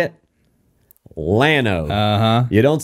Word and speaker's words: Llano: Lano. You don't say Llano, Texas.